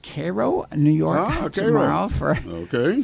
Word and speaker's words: Cairo: Oh, I'm going to It's pronounced Cairo, New York tomorrow for Okay.